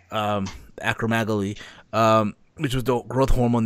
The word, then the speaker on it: acromegaly: and all that his acro megali yeah I've had butchered the name I apologize that's right acromegaly which was the birth